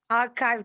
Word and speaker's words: archive: Exactly, लेकिन pronunciation ठीक करना, आर्काइव कहते हैं।